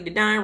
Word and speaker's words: Dedine: So listen, again, my name is Dedine, rhymes with Divine.